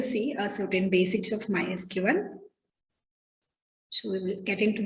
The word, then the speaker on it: MySQL: of the language the second thing is the mysql is pronounced as my sql it's not a sql